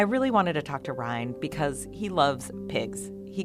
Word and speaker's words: Ryan: My name is Ryan, but most people call me Ryan. If you don't know how to pronounce it, just hold out the Y and say Ryan if you got a